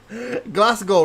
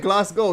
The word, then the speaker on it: Glasgow: how to say Glasgow, right? Glasgow. You said that. I think the W was silent.